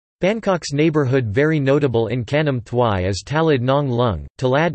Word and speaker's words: Khanom thuai: Khanom thuai, or Khanom thuai talay, Thai, Khanom thuai, Khanom thuai talay, Thai pronunciation, K, Nam T uij ta, Laj, is